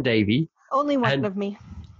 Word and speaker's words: Davey: I think I might have said Davies, but it's Davey.